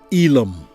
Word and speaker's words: Elam: remember that enki Poseidon Neptune is the father lamech in biblical terms Noah in biblical terms whose grandson is Elam pronounced in the United States as ilum a name visually highlighted